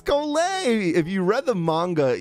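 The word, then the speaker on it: Collei: I've been saying Kolei's name wrong.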